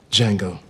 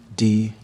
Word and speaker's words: Django: Django. Can you spell it? D-J-A-N-G-O. The D is silent.